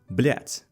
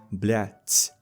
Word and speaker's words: блять: But pay attention to the word блять. It's not блят, блять, like a lot of the Americans like to say. It's блять. Блять.